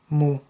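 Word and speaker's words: مُ: is Bish is a just think of it like a u sign so mean Bish is pronounced as Mo yeah me Bish Mo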